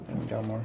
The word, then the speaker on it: Galmor: guy's name galmore yeah just g a l m o r galmore like I'm a gal okay so so a